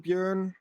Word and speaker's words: Björn: Bjorn. Oh, okay. Or Björn, but I mean, it's a Swedish name, Björn. I'm Dutch, and my parents